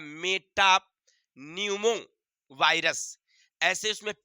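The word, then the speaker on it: metapneumo: क्या बोलेंगे Meta Numa virus P silent है वहां पर अंग्रेजी में लिखेंगे तो आप एम ई टी ए पी एन ई U ammo लेकिन वहां पर पी साइलेंट रहता है बोलने में हम उच्चारण में नहीं बोलेंगे बोलेंगे मेटा न्यूमो क्या बोलेंगे चलिए बहुत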